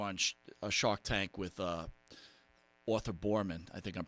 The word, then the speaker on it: Arthur Boorman: But, if people haven't seen it, I'm sure they all have, when you were on a Shark Tank with Arthur Boorman, I think I'm pronouncing that right?